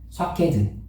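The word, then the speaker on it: שקד: 여러분, 여기서 살구나무로에 기록된이 살구나무의 아 히브리 원어가 뭐냐면은요. 케트라고 해요. 수케드. 샤케드 이렇게 발음해요.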